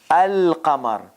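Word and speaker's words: القمر: So article alif, the lam is pronounced al-qamar.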